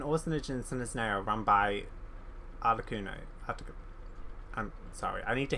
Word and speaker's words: Arlecchino: Oh, I had to double check because I was like, I'm pretty sure that's the orphanage thing that Arlecchino, that's how you say it, Arlecchino, whatever, runs.